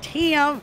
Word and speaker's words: Tim: Tim. That's what they say in Tennessee. It's two syllables.